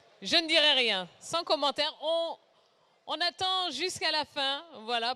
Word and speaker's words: eau: Exactement, O. C'est tout à fait logique, on a déjà 3 voyelles, E, A, U, on en a quand même besoin d'une 4e pour pouvoir prononcer le mot.